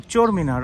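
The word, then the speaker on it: Chor Minor: the little charminar of Bukhara how do you pronounce the name oh charminar okay so we are on top of the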